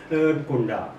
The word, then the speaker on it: Erdkunde: That's how it is given, but it is pronounced in German as Erdkunde.